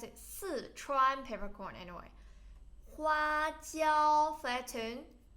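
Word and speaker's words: 花椒: And then Sichuan peppercorn, but you should pronounce it Sichuan peppercorn anyway. 花椒 flatten 花椒 This gives your tongue a numb feel.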